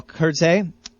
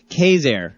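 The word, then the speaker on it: Quezergue: Let's jump back into the music here why don't we with some more Wardell Curts. Curt that's how I used to pronounce it. Kurtzig. It's actually Kazair I found out recently.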